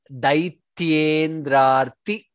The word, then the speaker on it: दैत्येन्द्रार्ति: Second line, Daityendrarti. Daityen and Ndara, Daityendrarti, ra there and ti alpa prana.